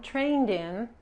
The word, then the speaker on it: trained: Otra vez, termina en N, agregamos la ED, es participio, pero en pasado también, en participio también, cuando agregamos la ED, la E no se pronuncia.